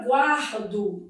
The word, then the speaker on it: guardo: Na palavra guardo, dividindo em sílaba, ó, eu tenho aqui um encontro consonantal imperfeito. O U é pronunciado, é uma semivogal, e o A é vogal.